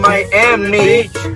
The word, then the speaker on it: Miami: In Miami, here in Miami, Oklahoma, they pronounce it Miami.